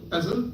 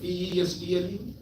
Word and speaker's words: PESTLE: Have you heard of PESTLE? P-E-S-T-L-E? Pestle or PESTLE. T is silent, but it's PESTLE. Political, economic, social, technological, legal, environmental.